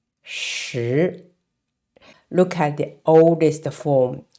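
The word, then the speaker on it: 石: So based on this meaning, and this character is rock, and it's pronounced shi, shi.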